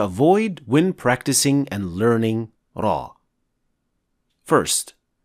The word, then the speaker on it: ر: and learning Raw first raw does not involve any lip movement so shaping your lips as o when pronouncing raw is wrong because it adds a hint of Lum that should not be there second some call or